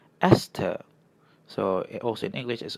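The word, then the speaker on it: ester: Right and this one is pronounced "es-ter".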